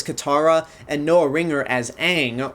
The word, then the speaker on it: Aang: Especially from Jackson Rathbone as Sokka, Nicola Peltz as Katara, and Noah Ringer as Aang, or as this movie says, Ong.